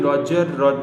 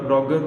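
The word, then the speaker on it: Roger: एक small creature जो कि जिसको यूजुअली उसका नेम रॉजर, अब इसकी pronunciation रॉजर रॉगर both of the pronunciation is right, तो दोनों से आप प्रोनाउंस कर सकते हो.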